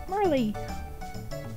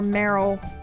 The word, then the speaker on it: Marle: my own little shadow my name is err marley or merrell however i mean everybody says words differently to me she's always been marley i think her name is actually supposed to be pronounced in merrell though not really sure there's a game over